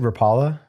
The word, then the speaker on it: Rapala: up to Canada the Rapala guys were there and is that how you say it see I've always said Rapala but they were saying Rapala so I figured they know right so it may also